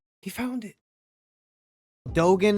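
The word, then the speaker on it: Dogen: he found it Dogan is his name I knew I wasn't saying it right I was saying Togan it sounds alike though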